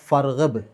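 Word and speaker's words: فارغب: ഹംസത്ത് വസിൽ എന്നാ പറയുക ഹംസത്ത് വസലിന്റെ പ്രത്യേകത അത് വെച്ചിട്ട് തുടങ്ങുകയാണെങ്കിൽ അതിന് ഉച്ചാരണം കിട്ടും എന്നാൽ അതിന്റെ തൊട്ടുമുമ്പ് വേറെ ഏതെങ്കിലും അക്ഷരങ്ങൾ വന്നാൽ അതിന്റെ ഉച്ചാരണം പോകും അപ്പോ ഫഇബ് എന്ന് പറയില്ല ഫർഹബ് ഫന് വന്നതോടുകൂടി ആ ഹംസത്തു വസലിന്റെ ഉച്ചാരണം പോയി പിന്നെ നേരെ റേയേണ്ടുള്ളൂ ഫർഹബ് അതേസമയത്ത് ഫ ഇല്ലായിരുന്നെങ്കിൽ ഇർഹബ് എന്ന് പറയണം എങ്ങനെയാണ് ആ കലപനക്രിയ വന്നത്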